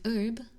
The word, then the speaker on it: herb: You have herb. There's no H in there.